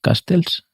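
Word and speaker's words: Casteels: Castels se pronuncia así, el portero que que que le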